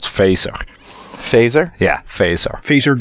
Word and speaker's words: Phaser: if you use this open-source gaming framework called phaser phaser yeah face our featured on Io how do you spell it pH a ser oh okay yeah and